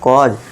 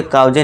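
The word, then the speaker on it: cause: कॉज सी ए यू एस ई कॉज उसे काउजे नहीं पढ़ना है।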